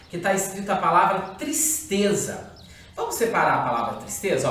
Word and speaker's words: tristeza: bem aqui embaixo, que está escrita a palavra tristeza. Vamos separar a palavra tristeza, ó. Tristeza. Ela tem 3 sílabas, certo?